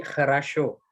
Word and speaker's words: хорошо: Bacanya jadi хорошо. Oh, yang pertama E ya? Iya, O yang pertama jadi kayak huruf E dibacanya, yang kedua jadi A, yang kena stres dia tetap jadi O.